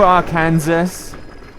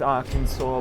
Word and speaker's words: Arkansas: you, R. Kansas. And yes, I know it's pronounced Arkansas, but if you want me to pronounce it Arkansas, spell it flipping Arkansas and not R Kansas.